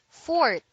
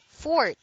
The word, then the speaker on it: forte: is spelled Forte but the E is pronounced only when speaking of music as a Forte passage